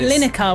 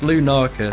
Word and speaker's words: Lunaca: Everyone pronounces Lunaca, it wrong. Yeah. surely. Yeah, like Lineker, which is like a... No, it's Lunaca. Okay. Apparently that's too posh, some people say, but I don't know.